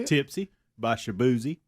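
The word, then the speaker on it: Shaboozey: is it how you say it Tipsy by shabzi shabzi okay how do you spell that I'm I wouldn't even know how to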